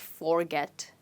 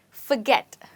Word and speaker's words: forget: you say this word it's not forget but forget you know the furry cat the word fur right so that's the same word that you're using here you're saying forget forget and where do you think my stress is well the stress in this word is on get okay let's look at